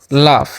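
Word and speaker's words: laugh: ठीक है, वी लाफ, यहाँ पर जी एच।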